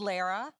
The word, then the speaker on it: Lara: Hi, my name is Lara. Rhymes with Sarah.